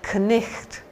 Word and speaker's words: knight: If you take the word knight, the shining knight in armour, the Scottish used to say knicht, knicht. So they pronounce the K. They also pronounce the GH with a ch kind of sound.